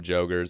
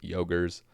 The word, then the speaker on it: Jogre: I was calling them Jogers. I think the correct pronunciation is Yogers.